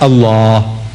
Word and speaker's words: Allah: If it's A-L-A-H, is Allah.